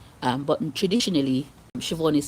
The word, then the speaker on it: Siobhan: Um but in traditionally, Siobhan is spelled s i o b h a n in the Irish way.